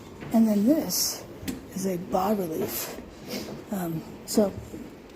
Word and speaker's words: bas-relief: not expecting to have bas-reliefs, to be honest, but, gorgeous details like this. Wow. Truly gorgeous. And as I said, it's called a bas-relief. The S is silent in the word bas.